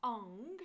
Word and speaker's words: Ong: And they are Ong, so it's O-N-G, Ong, and again, tongue to the roof of the mouth.